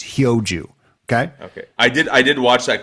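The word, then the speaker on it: 효주: It is Hyo Joo, not Hyo Joo. Hyo Joo. Sorry, everyone mispronounces it, and including Nelly Korda in her post-round presser. So I'm letting you off the hook, but no more. It's Hyo Joo.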